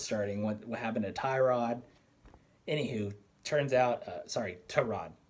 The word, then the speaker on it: Tyrod: he's saying herbert's starting what what happened to tyrod anyhoo turns out sorry sorry tehran to rod is is the way apparently it's pronounced so let's try to try to stay proper here tarad uh had some sort of chest injury he